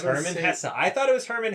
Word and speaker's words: Hermann Hesse: But today's book is Sedartha by Herman Hessa. Is that how you pronounce that? It is. I looked it up. Nice. It's Herman Hessa.